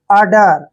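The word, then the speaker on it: udder: Next word U double D ई आर, देखिए जब भी यू और डी इकट्ठा आता है तो यू का उच्चारण ए करते हैं हम, ठीक है, और डबल डी को डे पढ़ते हैं और ई आर को रे पढ़ते हैं।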